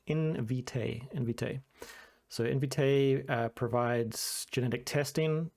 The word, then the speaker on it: Invitae: And you can see it's pronounced Invitae.